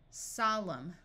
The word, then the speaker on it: solemn: combing climb climbing climber if you have MN at the end of a root the N will be silent so this sound is m m Au says a Autumn column solemn if you have W